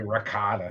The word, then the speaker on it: ricotta: People say ricotta. Well, it It is. Well, makes me well, crazy. because it's a C, Ricotta. You have to pronounce the C.